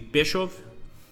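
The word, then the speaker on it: Pskov: I think the K is silent. It would be Peshov.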